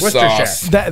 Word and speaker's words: Worcestershire: People want to pronounce that syllable, that silent syllable. They want to say Worcestershire sauce.